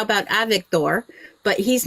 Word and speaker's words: Avigdor: Like Mandy Patinkin was Avigdor and Yentl, and whew, those are the days. Anyway, what do you do? You know what's ironic is naming him Asher. You said Avigdor? Avigdor, did I pronounce it right?